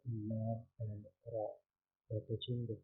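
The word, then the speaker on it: ل: So the letter Lam is pronounced by touching the tongue tip to the upper palate.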